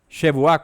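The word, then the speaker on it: שבועה: que es shua Sí shua con tilde en la última o con el acento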